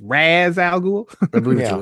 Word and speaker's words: Ra's al Ghul: Alfred, the pronunciation of that woman in Begins had it right. It's Ra's al Ghul.